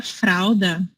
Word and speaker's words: fralda: Aí também a Dai deu uma sugestão aqui que o L também às vezes parece uma vogal, porque algumas palavras a gente pronuncia como um U, tipo na palavra fralda.